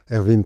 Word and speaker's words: Erwin: Erwin prononcé à l'allemande, l'origine de mon prénom, et je dis que je suis architecte.